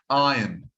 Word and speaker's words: iron: Satan sarson sarson iron no it's iron iron there is no R here do not pronounce the r as iron iron iron that's iron